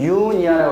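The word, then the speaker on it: eupnea: 여기서 요거 단 하나가, 자, 요거는 유니아라고 그러는데, 요거 PNEA는 호흡이라는 뜻이에요. 니아는. P는 묵음이고, U는 진짜라는 뜻이에요.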